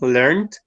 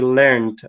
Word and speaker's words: learned: form of the verb, this is a regular verb which has the ed sound at the end, learned. But when we use the British version of form of the verb, it is irregular and we say learned with T.